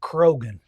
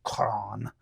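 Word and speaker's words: Croghan: want to pronounce it Krogan c r o g h n but it's a Gaelic name so it would have been pronounced Kon it you know with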